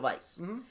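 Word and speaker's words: Weisz: and by the way we now properly know how to say her name right right it's Vice yeah I don't mean that bad I don't dislike Rachel Vice am I gonna run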